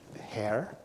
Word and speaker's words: Herr: Hair is how that would have been pronounced, supposedly.